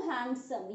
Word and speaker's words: handsome: word is handsome, no handsome, यहाँ पर भी ये हमारा जो d है ये silent है, हम इसको pronounce नहीं करने वाले हैं।